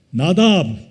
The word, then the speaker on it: 나다브: 나다브. 히브리 발음으로 나다브.